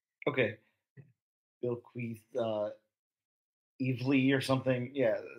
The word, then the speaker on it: Bilquis: to step in uh I think and I could very well be wrong but I think it's supposed to be Bill quis okay Bill quis uh evely or something